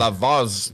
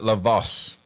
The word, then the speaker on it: Lavaz: Lavaz, not Lavos.